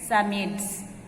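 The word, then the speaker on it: Psammead: symmetes asked robot okay here p is silent summits okay samuels robert asked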